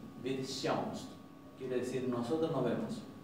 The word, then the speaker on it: sjáumst: Entonces ellos van a decir, por ejemplo, vid sjáumst. Vid sjáumst. Y esto se va a pronunciar como si fuera una SH con una I. Vid sjáumst.